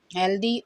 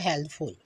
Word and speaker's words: healthy: 33 पे आ जाएं, हेल्दी और हेल्थफुल। HEALTHY, इसको लोग हेल्थी पढ़ते हैं, इसकी ओरिजिनल प्रोनाउंसिएशन होती है हेल्दी, सेहतमंद, तंदुरुस्त।